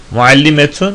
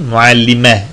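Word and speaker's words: معلمة: Muallimetun, muallime diye Araplar tarafından telaffuz ediliyor.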